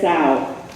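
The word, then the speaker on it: Tsao: That's Sao, and it's spelled T-S-A-O, right? Okay. And the first time I called him, that was very rude, right? Or Tao, I said, right?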